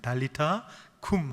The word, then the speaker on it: 달리타 쿰: 우리가 가지고 있는 성경은 굼이라고 적혀 있는데 원래 발음은 쿰이 맞습니다. 달리타 쿰 하고 일으키셨습니다.